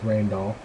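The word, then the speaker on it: Rijndael: encrypt we use the rainall that's pronounced rain doll um encryption algorithm this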